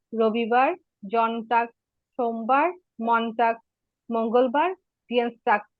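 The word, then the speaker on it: Dienstag: এরকম মনে রাখতে পারেন, শনিবার জাম্পস্টাক, রবিবার জনটাক, সোমবার মনটাক, মঙ্গলবার ডিয়েন্সটাক, ডিয়েন্সটাক, ডিয়েন্সটাক। এটা একটু কঠিন উচ্চারণ, এটা একটু খেয়াল করবেন।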